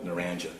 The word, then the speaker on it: Naranja: Is that Narranja? That is correct. It's pronounced Naranja? Naranja, yes, sir. We were struggling with that with the previous witness, how to pronounce it.